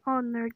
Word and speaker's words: honor: In the first example, the article an is used because in the word honor, the H is silent.